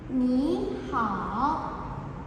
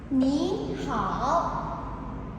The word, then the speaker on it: ni hao: Bacanya ni hao. Ni hao.